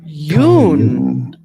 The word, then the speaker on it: Jung: swiss psychiatrist and psychoanalyst how do you say his name carl jung yoon pretty straightforward once you know call you and now